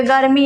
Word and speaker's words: गर्मी: म पूरा आता है इसी तरह यहां पर गर्मी है गर्मी में यहां पर र आधा और